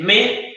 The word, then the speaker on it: me: Se escribe me, ¿ya? Pero se pronuncia me. Como la nota musical, me.